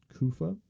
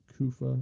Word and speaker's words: Kufa: And there came a point where Yazid was invading a town called um Kufa. Uh yeah, Kufa. I believe that's how you pronounce it.